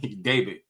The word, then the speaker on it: David: You don't pronounce the name properly. David. You say it with a B. David.